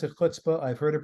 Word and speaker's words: chutzpah: And the answer, although the word itself, and I pronounce it chutzpah, I've heard it pronounced chutzpah, chutzpah, as if the C isn't there. It just starts with the H, kind of like a stop sign in Washington, D.C.